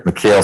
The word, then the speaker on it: McHale: So this is position 7, 21 SC 178270, state versus, is it pronounced McHale? Okay, yes, sir. McHale Swanson.